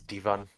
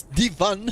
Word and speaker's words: Devon: And it seems we've been saying Deon's name wrong. It's Devon. We'll just have to live with that mistakes. But now that we know it's Devon, attackers need to locate and diffuse as many.